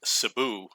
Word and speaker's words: Cebu: in New York so some of you might have heard of Cebu Philippines it's actually it's pronounced Cebu that's how the locals pronounce it and this is actually